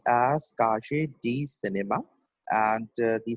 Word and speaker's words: Cahiers du Cinéma: It pronounced as Kaje D Cinema, and the spelling is Kaje.